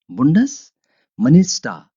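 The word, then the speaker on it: Bundesminister: बुंडस मनिस्टा, इसको मनिस्टा पढ़ेंगे। आर आ की आवाज देगा आखिर में, निश नहीं ऐसे जैसे कि देखिए फेडरल मिनिस्टर, इंग्लिश में कहेंगे मिनिस्टर, ऐसे इसको प्रोनाउंस करते हैं। इसकी अदायगी ऐसे है, लेकिन डच में आप कहेंगे, जर्मन जुबान में, जर्मन लैंग्वेज में, बुंडस मिनिस्टा, वफाकी वजीर जो है।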